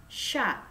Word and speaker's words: chat: Oke, untuk kalimatnya Ilya Angsha, T-nya nggak usah dibaca, Sha, ya.